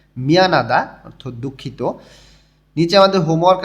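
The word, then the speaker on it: 미안합니다: মলদা দূরে নুত্তা দেরি মিয়ানাদা দুঃখিত নিউন এর পরে যখন হিউ থাকে তখন হর উচ্চারণটা খুবই সামান্য উচ্চারণ হয় এবং নিউনটা একটু জোরালো উচ্চারণ হয় মিয়ানাদা অর্থাৎ দুঃখিত নিচে আমাদের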